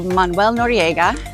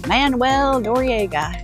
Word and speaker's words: Manuel Noriega: 1989 to get out General mon Nora or as the Americans say General Manuel Nora who was just basically